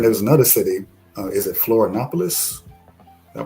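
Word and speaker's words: Florianópolis: Is it Florianopolis? Did I pronounce that right?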